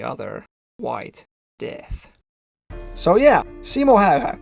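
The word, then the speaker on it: Simo Häyhä: white death so yeah simoha that's the correct pronunciation by the way was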